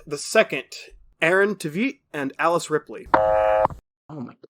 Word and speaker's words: Tveit: Also, Aaron Tveit. Yeah. It's definitely Tveit. As I was saying it, I realized I was saying it wrong, so don't worry.